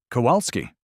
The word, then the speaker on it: Kowalski: "Kowalski," she said, with the precision of someone who has had practice making the correction without heat. "The W is pronounced as a V in Polish.